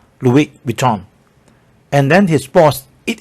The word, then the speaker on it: Louis Vuitton: S no sound, and then the N no sound. Louis Vuitton.